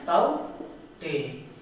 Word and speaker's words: Tauktae: पहला साइक्लोन आया था ताउते, इसको प्रोनाउंसिएट करते हैं ताउते।